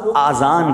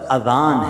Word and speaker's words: اذان: نیکیاں کما سکتے ہیں۔ بعض لوگ آذان کہتے ہیں، یاد رہے پہلے اذان کہتے کس طرح ہے، اس کا تلفظ سے بچ لیں۔ آذان اذن کی جمع ہے، اذن کہتے کان کو، یہ آزان نہیں ہے، یہ لفظ اذان ہے، ٹھیک ہے؟